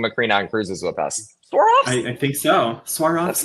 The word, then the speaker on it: Swarovski: Swarovski. Hey, you just said it. Swarovski? Really? Swarovski.